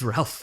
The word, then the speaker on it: Ralph: It's Ralph Fiennes. Yeah. It's spelt Ralph, you should say it Ralph.